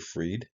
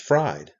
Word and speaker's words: Fried: paying attention Bank man I don't pronounce that word freed it's fried bang man fried but you can see